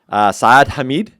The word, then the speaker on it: Saad Hameed: And today, I'm with Saad Hameed.